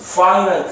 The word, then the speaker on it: finite: 요 i가 i 발음이 나요. i. 그래서 finite set 유한집합이에요.